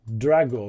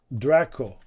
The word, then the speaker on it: Draco: So sorry it's not Drago right it's Draco right and Drago is a